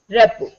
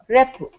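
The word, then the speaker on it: rapport: T is silent. Repo. Repo.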